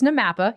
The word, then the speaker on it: NAMAPA: like 30 syllables but what the hell is namapa or is it namatha we did it we my favorite is what was it Nam paw yes so it it's namapa you're correct there and how do